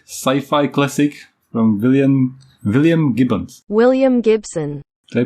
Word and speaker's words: William Gibson: William Gibson. Did I pronounce that correctly? Perfect, yeah. I always Gibson. mispronounce names. No, yeah, William Gibbons, that's how I would say.